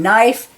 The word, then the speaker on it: knife: knit the knaves knee with all these silent K is a knight and knife and knave and me L is not for